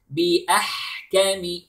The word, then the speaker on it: بِأَحْكَمِ: Then بأحكم. Notice the ح sound. It is همس.